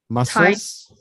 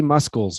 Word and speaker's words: muscles: Muscles. So the C is silent. The C is silent. It should be muscles, but it's not.